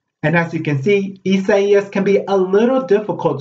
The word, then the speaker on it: Isaias: the hurricane that was downgraded to tropical storm isaias hurricane isis all great pronunciation of isaiah's but remember they did have